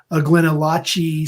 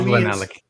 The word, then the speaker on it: GlenAllachie: I love Glenallachie. Yeah, it's spelled Glen. To me, it's Glenallachie, but yeah, Allachie. There you go. Glen is Allen Key, as Scott on our show calls it.